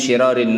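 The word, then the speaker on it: شرار: Inna min syirarin nas, sesungguhnya termasuk syirarin nas bi kasri syin, jamak dari syar, af'al tafdhil. Ini bacanya syirar, bentuk jamak dari kata syar, yang mana syar itu adalah isim tafdhil.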